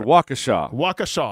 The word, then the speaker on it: Waukesha: So, a How's this county pronounced in Wisconsin, Matt? It's a town. It's called Waukesha.